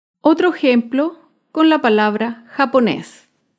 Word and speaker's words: japonés: Otro ejemplo con la palabra japonés. Japonés es una palabra aguda. Se acentúa en la última sílaba y lleva tilde porque termina en la consonante S.